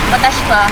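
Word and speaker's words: watashi wa: Ang pronunciation niyya mawawala yung eye. Watashwa.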